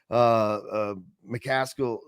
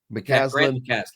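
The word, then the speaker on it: McCasland: Because I don't know them all, but like we've talked about Texas Tech, McCaskill, I got his name wrong. McCaslin.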